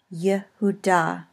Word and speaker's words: Yehuda: And it is vocal when it is under the first letter of the word. Yehuda. In most other cases, the shva is silent.